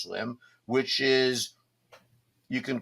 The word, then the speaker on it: SLM: the uh Anthem MRX swim slm but I guess pronounced swim which is you can